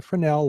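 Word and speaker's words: Fresnel: Z NE L but the Z I guess is silent but this is a Fel lens um by uh the original designer of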